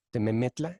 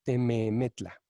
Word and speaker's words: Tememetla: la Cuenca de México, Tememetla. Escucha, por cierto, cómo la segunda sílaba es ligeramente más larga. No es tememetla, es tememetla.